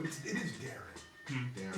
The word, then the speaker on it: Deron: It's spelled Darren. It's spelled D-E-R-O-N Okay. though. I want to say Deron too, but it's always Right. Darren.